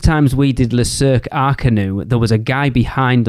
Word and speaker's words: Arcanus: And I just wanted to go, what do you think it's called? Like Le Cirque Arcanus? Because I'll be honest, that's what I called it the first time. And I had a certain Mrs. Digenova reach out to me and go, that's not how you pronounce it, sir.